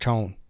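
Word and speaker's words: Chão: It's pronounced Chone. Maybe it's Portuguese thing.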